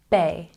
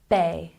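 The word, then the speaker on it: bae: or your spouse and let's check our pronunciation which we've put the phonetic transcription up here for you ba ba once again ba very good number 11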